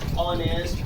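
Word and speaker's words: honest: उसी तरह ऑनर में भी एच के बाद वॉवेल का प्रयोग हो रहा है, अतः एच यहाँ साइलेंट है। और इसको हम कैसे पढ़ेंगे, एच को छोड़ के इसका उसका उच्चारण करेंगे, ऑनेस्ट, आवर, ऑनर एंड।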